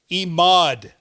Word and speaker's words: Emad: Emad is the way you pronounce that name.